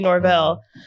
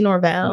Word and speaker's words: Norvell: our other co-hosts, Norvell. Did I say it funny? Norvell. Nah, that's how we said it. That's why I was trying to. Yeah, you said it right.